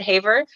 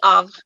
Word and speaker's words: Havre: Is it Havre? Of it's French, yeah. So I mean, I was thinking because it ends with an re, some people might just pronounce it Haver, because you know how we say center is re in Canada.